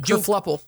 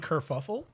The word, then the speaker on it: kerfuffle: Kerfluffle. Same one. Junk. How you spell it? KERFLUPPLE. Kerfluffle. Nope. Did you mean kerfuffle?